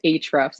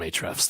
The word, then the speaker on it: Ahrefs: their their company name i think we determined it was ahrefs is that right john h the folks at hrefs they love us and so we call them ahrefs that's our new new